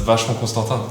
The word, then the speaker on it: Vacheron Constantin: How do you actually officially say Vacheron Constantin? You're not too far off. I mean, it's just Vacheron Constantin.